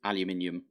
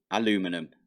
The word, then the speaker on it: aluminium: because I said uh aluminium which is how we say it in the UK and I'm from the